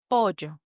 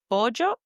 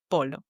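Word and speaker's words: pollo: Instead of llama, you say jamama because that double L makes a J sound. Another example is pojo. Pojo, which in Spanish means chicken. It's written P O L L O. But you should pronounce it bojo and not polo.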